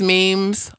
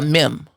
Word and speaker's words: meme: Well, let's talk about the word meme. How you say it. Well, I've been approached by some people who call it a meme. Or a meme. A meme. What's the spelling? M-E-M-E. Meme. The last E makes the second E very long.